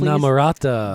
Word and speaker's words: Inamorata: The last song, can I get a pronunciation on that one, please? Inamorata.